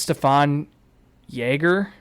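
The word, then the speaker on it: Stephan Jäger: like that and then Steven I think it's Stefan Jagger I think is how you actually pronounce it uh he's one of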